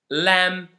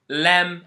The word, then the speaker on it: lamb: lamb and climb again you can notice that there is a letter that I didn't pronounce in these words and that letter is the letter B so the second rule that we want to focus on today is whenever you have words that end in m and b don't pronounce the b only pronounce the M climb not climb uh